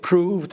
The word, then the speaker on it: prove: Words like prove and move were pronounced prov and mov.